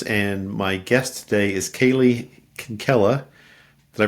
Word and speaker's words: Kaylee Kinkela: am and my guest today is Kaylee Kinkela did I pronounce that right you did okay Kaylee so